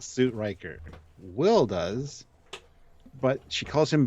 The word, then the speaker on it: Will: I thought she just learned the line as Bill, not Will.